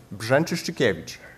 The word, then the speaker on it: Brzęczyszczykiewicz: speaker, it's Grzegorz, and bear with me now, Brzęczyszczykiewicz.